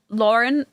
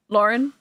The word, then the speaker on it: Laurent: Lauren. Lauren. Silus. Lauren. So do you say it as Lauren without the T? So it's spelled Laurent, but it's not. You don't say the T.